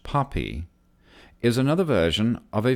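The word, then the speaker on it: PAPI: along the flight path precision approach path indicator P a P I AP AP I pronounced poppy is another version of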